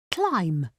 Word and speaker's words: climb: Some words end with a silent B. Climb. In the great race, the dogs had to climb hills. We cannot hear the B at the end of climb.